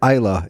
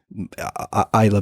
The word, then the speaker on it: Islay: I went to Islay, it's pronounced. I always pronounced it Islay before I went to the island and got told off by the locals.